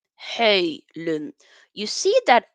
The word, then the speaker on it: Højlund: Hojlund, Hojlund.